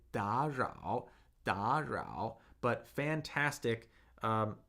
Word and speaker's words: 打扰: couple notes, like in da rao, you pronounce that da rao, so you gave it a 1-3, but it should be pronounced as a 2-3. It's two consecutive third tones. Third tone sandhi, right?